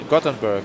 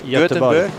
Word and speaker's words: Göteborg: Gothenburg. Yeah. How you say it in Swedish? Göteborg. Göteborg. Yeah, that's different than we spell it in English. Yeah, it's Göteborg.